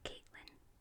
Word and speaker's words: Catelyn: Do you say Catelyn or Caitlyn? I say Catelyn. I think Brian pronounces it like that. And I think it sounds nice. It sounds more medieval fantasy as Catelyn rather than Caitlyn.